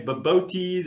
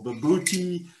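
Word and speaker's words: bobotie: It's even spelt unusually and it's pronounced unusually. Some people say baboti, especially the British, or babooti.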